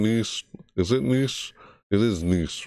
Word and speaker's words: Nice: saying these is it nice it is nice right not knits nice piece it looks like it's spelled it's felt knits but it's pronounced and used for i don't